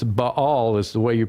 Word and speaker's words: Ba'al: the title so to speak so it's it's b all is the way you pronounce it and it's semitic for owner or